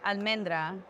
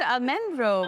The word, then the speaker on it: almendra: Almendra. Almendra. I was close. You were close. You said almendro or something. You made up a new name. I did. Almendra.